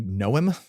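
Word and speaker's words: Noem: uh yeah what's Christy Noom is that how you say her name yeah n like a gnome like a tiny gnome got it um Christy gnome yeah she's the governor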